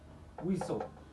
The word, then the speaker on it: whistle: ay ku saabsan yahay waxaad ogaataa T-da marar badan waxay noqotaa silent ama mid aanan lagu dhawaaqayn silent T silent T xarfahani aad u jeedid halkan iyo jumlooyinkan oo la adeegsanaya xarfahan dhamaantood waxay qabaan TL words listen ma listen often whistle rustle castle apostle trestle macnahooda aan